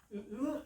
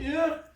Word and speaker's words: Hur: Et Aaron et Hur, je crois que c'est la bonne prononciation en français, Hur, est-ce que ça se dit bien, Hur, viennent, si on